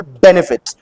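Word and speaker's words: benefit: for example बेनिफिट बेनिफिट इसमें कौन सा सिलेबल हम लोग स्ट्रेस कर रहे हैं बेन पहला वाला बेनिफिट सो बेनिफिट नहीं होता ये बेनिफिट नहीं बिट सो the first syllable is being stress and that is वई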